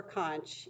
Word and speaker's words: conch: of twisty around or you can say conch by the way conch or conch either way you want to read that as fine they're both acceptable pronunciations but the conch shell